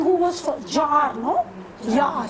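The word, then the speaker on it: Jahr: Jar. It's actually called Jar, because in Germans the J is not pronounced.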